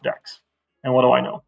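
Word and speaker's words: deque: I always want to say DQs, but they say it's pronounced decks.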